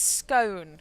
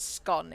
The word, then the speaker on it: scone: will tell me off it's scone Kyle it's not scone it's scone think of the stone of scone yes how do you